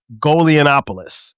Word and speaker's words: Golianopoulos: My man Golianopoulos. Did I pronounce that right?